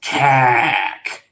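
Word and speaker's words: คาก: i was talking about it's kak that's how you're supposed to pronounce it it's spelled k-a-k but you the way the thai's pronounced it's like this really long drawn out cac it also coincidentally in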